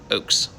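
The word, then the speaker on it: Ochs: eric oaks and it's spelled o-c-h-s but pronounced like oak tree oaks um i figured you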